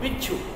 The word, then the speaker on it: बिच्छू: बाद में बड़े जो पूरा है उसका पूरा उच्चारण करें। बिच्छू, च का कम उच्चारण किया जा रहा है,